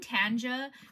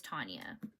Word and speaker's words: Tanya: I was saying Tanja because they spell it Taunja Bennett, but her name is Tanya.